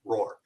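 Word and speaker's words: Rohr: Her name is spelled R O HR. Ellen Roar.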